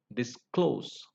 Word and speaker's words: disclose: The next rule is verbs of two syllables beginning with the prefix dis. For example, disable, dispel, disturb, disclose. So in such words, the words beginning with this prefix dis, they are stressed on the last syllable.